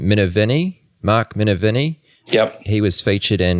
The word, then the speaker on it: Minervini: already kind of mentioned, Mark, how do I pronounce his last name? Minervini? Mark Minervini?